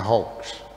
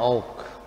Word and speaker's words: hoax: kedustaan, atau sekarang namanya hoax. Hoax atau hoax? Hoax, bukan hoax, bukan. Tapi banyak yang bilang hoax, ya. Tulisannya hoax, ya. Dibacanya hoax. Seperti owak, bacanya oak.